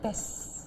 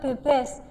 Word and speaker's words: Bes: mol yaitu B menjadi base terus ini bacanya base ya bukan bebas. Biasanya biasanya bacanya bebas ya umumnya loh ini apa? Base bukan bebas. Ini base.